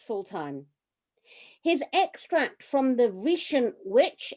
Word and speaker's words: Vriesian: His extract from the Vriesian Witch, is that pronounced correctly, Geoff? Vriesian, yes. Close, close.